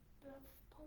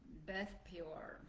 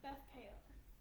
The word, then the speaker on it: Beth Peor: So we abode from the valley over against Beth Bethpor or something like that. Beth Peor. Beth Peor. All right. If you say the word pay, it sounds like the word pee.